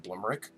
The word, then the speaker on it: Blumerick: original Austrian accent, because I pronounce it Blumerick, but they have that wonder because they can do the vowels and consonants because, they grew up doing that. I think they have a much more musical way of pronouncing it.